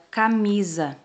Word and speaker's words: camisa: Vamos falar um pouquinho, então, da palavra camisa. Olha só, um S só e tem o som de Z.